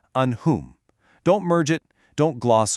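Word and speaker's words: أنعمت: You absolutely must pronounce that noon clearly and distinctly. It is an'amta.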